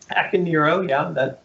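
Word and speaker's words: Akaneiro: this leads us to and probably killing the pronunciation akanero akanero yeah it's a japanese word it means angry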